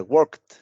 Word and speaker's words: worked: Tenemos la terminación ed, que ya lo comentamos, en la regla es ed, pero en pronunciación suena como si fuera una T. Entonces diría worked o walked, o también puede ser talked.